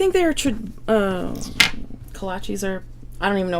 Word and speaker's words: kolaches: Kolaches.